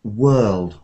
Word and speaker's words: world: So it sounded like maybe worst or something, but world, world. Have a go at that word. Word, words. It sounds like worst or word, so world. Lud, Word. lud at the end.